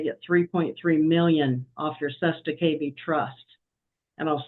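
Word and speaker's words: cestui que vie: walk in, they get 3.3 million off your Sesta KB trust. And I'll spell that for you if you want, but it's CESTUI space QUE space VIE trust.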